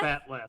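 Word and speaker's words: bat'leth: Batleth.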